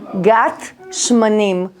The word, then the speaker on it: גת שמנים: Ok, esse lugar se chama Gat Shmanim. Vocês podem pronunciar Shmanim?